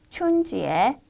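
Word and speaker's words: 春节: 춘절을 한번 중국어로 읽어볼까요? 춘지에, 춘지에라고 읽고요.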